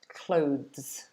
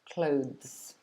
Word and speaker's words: clothes: clothes yeah perfect perfect chris said it's hard to pronounce the z part smoothly yeah i think that's the difficult part of the and then the zed yeah it's really hard